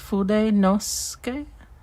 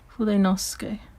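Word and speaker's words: Fudenosuke: And they said, you kind of don't pronounce part of it, so it's just Fude Nosuke. You don't pronounce that like the U. You don't say oo there, but yeah. Fude Nosuke pens.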